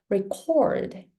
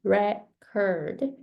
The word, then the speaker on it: record: For example, record and record. Although the spelling is the same, record, right? Record. But if you say record, that is a noun. And then when you say record, that becomes a verb. So in English, it depends on where you put stress on certain syllables, you make different meanings.